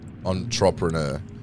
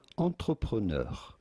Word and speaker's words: entrepreneur: In French, this is normally said entrepreneur.